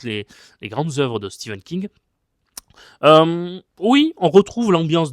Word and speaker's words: Stephen King: Donc la grenadière et le message Salem de Stephen King, de Stephen King, je sais qu'il faut le prononcer comme ça.